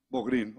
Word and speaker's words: Bográn: doctor, junto con Bográn. Digo, ¿me corriges? Bogrin, ok. Así se escribe, pero yo creí que se pronunciaba de otra forma.